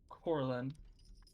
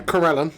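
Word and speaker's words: Corellon: Against the northern wall stands a statue of Corlin. Probably said that name wrong. Yeah, Corellin, god of the elves, yeah, go on.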